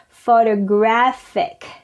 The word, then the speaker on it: photographic: In the adjective form is on the third syllable. Photographic.